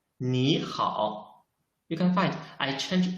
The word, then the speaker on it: 你好: Because in Chinese, if there are two third tones, we should change the first third tone into the second tone.